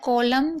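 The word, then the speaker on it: column: कॉलम कॉलम में भी आप देख रहे हैं यहां पर एन को नहीं पढ़ा जा रहा है।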